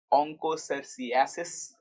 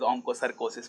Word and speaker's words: onchocerciasis: And of course, the 5th disease in WHO list is onchocerciasis. And I just came to know today only that I was pronouncing it wrong as onchocercosis.